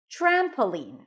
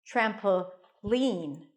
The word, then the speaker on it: trampoline: an N lean lean the primary stress is on the first syllable trampoline trampoline that's how I say it you can also put the stress on the last syllable trampoline trampoline can even hop a